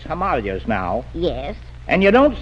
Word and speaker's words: Himalayas: Rhymes with jelly. Oh. Himalayas has gone out of style, too. It's Himalayas now.